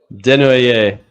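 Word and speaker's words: Desnoyers: spot to Utah, Caleb Denho, I'm I'm gonna butcher this, because you're used to me butchering it. So, like, let's have it. How do you say the last name? Denu.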